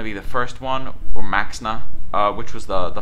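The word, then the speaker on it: Maexxna: is going to be the first one or Maxa uh which was the the five Mana 28 I want to say with the emperor Cobra ability uh so loab makes it's spelled maesa it's pronounced Maxa I need to remember this loab Max are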